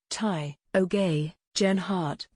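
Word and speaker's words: Tao Geoghegan Hart: trial of a kovid 19 vaccine in november tag echogen heart tai o gay jen hart the british born professional cyclist who won the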